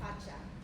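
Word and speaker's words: Kpatsa: So we're gonna play around with a dance called Pacha. It's spelled K-P-A-T-S-A, and it's from Ghana.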